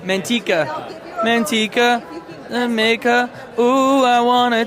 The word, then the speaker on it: Manteca: Monteca. Is it Manteca? I've been saying Manteca. Woo. Okay. I'm being given California words. She's adding more. Okay, so it's Manteca.